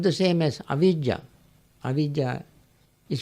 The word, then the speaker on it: avijjā: It's not the same as avijjā. Avijjā is spelled as A-V-I-J-J-A, V.